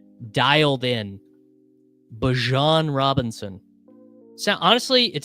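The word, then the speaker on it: Bijan: I already got the pronunciation dialed in. Bjon Robinson.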